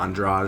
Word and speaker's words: Andrade: Andrade. Yeah, Andrade is how you say it.